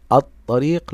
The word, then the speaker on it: الطريق: ابنائي اعرف اللام الشمسيه اللام الشمسيه تكتب ولا تنطق فعند قراءه كلمه الطريق الطريق لم انطق اللام كذلك الحرف الذي بعد